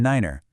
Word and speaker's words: niner: Two, use the special pronunciations tree, f, and niner.